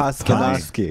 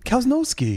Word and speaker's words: Kvasnosky: That's right up our alley in terms of Kvasnosky. Cows can't ski. Cows no ski. Cows no Cows ski. no ski. And then you always say cows no ski, which is close enough.